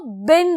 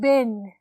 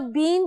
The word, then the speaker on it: been: अब जब आपने एक्टिव से पैसिव में कन्वर्ट करना है बेटा, तो बिन लगा देना है. ठीक है? BEEN, बिन. इसको आप बीन भी कह सकते हो, बट the correct pronunciation is बिन.